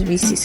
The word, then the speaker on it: WiCyS: So yeah, this is pronounced WiCyS for those who call it WiCyS. It is WiCyS actually.